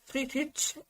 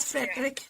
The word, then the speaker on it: Friedrich: her something um better I love that you are also pronouncing Frederick's name correctly with that German pronunciation I don't know if it's the American or English weight when I say Frederick but Friedrich is the original German way not Frederick never Frederick but Friedrich or Friedrich but you are doing